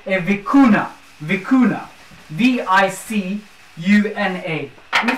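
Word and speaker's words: vicuña: their coat of arms, is something called a vicuna. Vicuna. V-I-C-U-N-A. Let me spell that for you.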